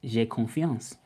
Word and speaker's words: j'ai confiance: So if you want to say I'm confident in French, it's j'ai confiance. That's how you would say it.